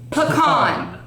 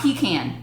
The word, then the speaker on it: pecan: and they dispelled PE c8n and it is pronounced pecan not pecan no pecan pecans are lined up outside concert